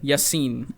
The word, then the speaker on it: Yassin: Yassin, right? Yassin. It's like double Yassin. E, right? No, it's just an I.